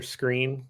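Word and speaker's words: Skrine: Um, I like send texts to people that they mispronounce names. So, like, let's just say Buster Screen. When Buster Screen got signed, Yeah. there were a couple of us that were saying it Buster Scrine because that's how Yeah.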